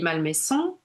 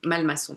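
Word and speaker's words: Malmasson: divine euh de Malori Malmesson. Je sais pas si vous connaissez peut-être que certaines d'entre vous ça va malmaçon pardon j'ai mal prononcé Malorie Malmaçon.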